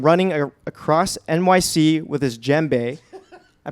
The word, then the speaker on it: djembe: You can often find him running across NYC with his djembe. I pronounced that right.